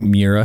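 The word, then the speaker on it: Miura: backwards can you imagine owning a Lamborghini like Mira is that how you pronounce it yes and being like we need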